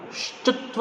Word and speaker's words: श्चुत्व: श्चुत्व संधि, इसका उच्चारण कई विद्यार्थी अशुद्ध करते हैं। हम थोड़ा ध्यान रखें कि यहाँ पर आधा श है और च में ह्रस्व उकार है, तो ये बनता है शब्द श्चुत्व संधि।